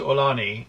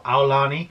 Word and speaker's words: Aulani: to Aulani or Aulani, we've heard it pronounced two different ways. Even in official Disney videos, some people call it Aulani, some people call it Aulani, so we'll just see. Maybe it's acceptable to say both.